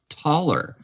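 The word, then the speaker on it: Thaler: uh you're I guess we're pronouncing his name Thaylor or Ther. But do you realize that his name is basically pron he's scand it's a Scandinavian name. It's pronounced taller, right?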